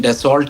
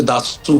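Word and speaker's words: Dassault: तरह आपने कहा उसको वैसे तो अंग्रेजी में डिसॉल्ट कहते हैं जो स्पेलिंग्स है उसके लेकिन असल में फ्रेंच में उसे दासू कहते हैं तो उनके वक्त को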